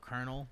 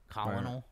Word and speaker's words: colonel: It's like how colonel. Like you sell. Look at how it's spelled. Colonel. Right. It's pronounced weird.